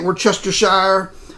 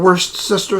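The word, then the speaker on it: Worcestershire: just just Aire sauce not many people say it right we're Chester Shire I call it worst sister sauce you can call it what you want but you know what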